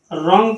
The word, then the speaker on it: wrong: WRONG, रॉन्ग पढ़ा जाएगा, W silent होगा।